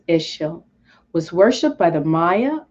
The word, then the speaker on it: Ixchel: Ixchel, pronounced Ixchel, was worshipped by the Maya of the Yucatan Peninsula of Cozumel, her sacred island, the moon and snake goddess.